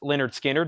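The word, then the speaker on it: Lynyrd Skynyrd: have another analog Productions Leonard Skynyrd pronounced Leonard Skinner that's a 2lp 45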